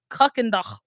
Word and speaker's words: Kuykendall: used to call it's pronounced Kuckendach. Like this is German, right? It's Kuckendach. Is it Kuykendall? Kuckendach. but we say Kirkendall. It's not Kirkendall yet.